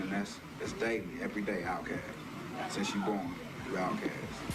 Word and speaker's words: Outkast: Outkast, pronounced outcast, an adjective meaning homeless or unaccepted in society.